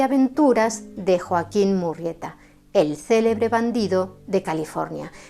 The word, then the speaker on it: Murrieta: Sí, habéis escuchado bien, he pronunciado Murrieta con una sola R, porque así lo escribió el autor del libro, John Rollin Rich, que era un nativo nacido en el estado de Georgia.